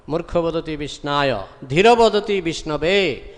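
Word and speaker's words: विष्णवे: Dhīraḥ vadati Vishnave. Those who are sober, real scholar, Pandita, scholar, they say, Om Vishnave Nama, pronunciation is correct. But Murkha means uneducated, he says Om Vishnaya Nama, pronunciation is wrong.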